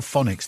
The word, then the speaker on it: phonics: in Durham says if phonics are that good why doesn't the word start with an F uh well because pH is um it's phonics isn't spelled with an F pH makes the sound presuming if you were